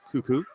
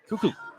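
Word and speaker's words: Kukuk: That's the pronunciation of the last name. K-U-K-U-K. Cuckoo.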